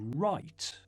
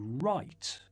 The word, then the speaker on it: write: Буква W не произносится, если за ней стоит R. To write. To write.